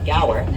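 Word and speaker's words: gaur: In that huge pasture, we'll be on the lookout for a very large cow-like animal known as the Gower. And that's spelled G A U R in case you are curious.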